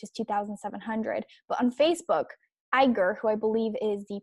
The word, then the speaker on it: Iger: It's Iger. Iger. He's contributed a lot of money to Clinton's presidential campaign. In fact, the maximum allowed, which is $2,700. But on Facebook, Iger, who I believe is the president of Disneyland,